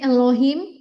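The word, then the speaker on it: אלהים: Tetap baca sebenarnya Elohim, penekanannya bukan di E-nya, karena E-nya itu dibaca cepet harusnya. Oh, jadi kayak Elohim. Elohim gitu ya. Elohim. Betul, Elohim. Betul. Oh. Pendekanannya di Elohim.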